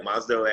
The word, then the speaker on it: MOSDOH: What do you guys pronounce it? MOSDOH, right? MOSDOH at ATSU?